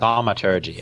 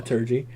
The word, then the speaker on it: Thaumaturgy: I can't pronounce that. Thaumaturgy, actually. Thaumaturgy. I didn't know if that second T was pronounced.